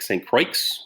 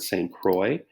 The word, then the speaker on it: Saint Croix: the saint croix river it looks like saint crikes when you spell it but you pronounce it saint croix and that comes out